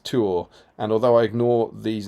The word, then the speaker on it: Tuor: Joe Holzman, I also think generally in Tolkien's writings, 2 consecutive vowels are pronounced separately, like Feanor and Tuor.